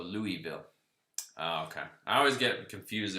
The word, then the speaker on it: Louisville: something fresh thanks man you pronounce lewisville without the s so louisville okay i always get